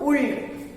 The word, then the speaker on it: would: Here is not would. Here L is silent.